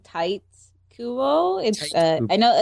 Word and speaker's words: Tite: Actually, the pronunciation would be T-Te. Is it just a pseudonym? Isn't it like a pen? Yeah, but if you... I mean, I'm going by the Japanese pronunciation.